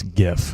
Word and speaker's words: GIF: Yeah, I forget it's GIF because that's wrong because that's peanut butter. It's GIF. It's a hard G.